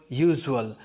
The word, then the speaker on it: usual: Then what about the word usual? Is it unusual or unusual? Go after the sound that U gives in this word. U in the word usual is pronounced as Y-O-U-U, and Y is a consonant.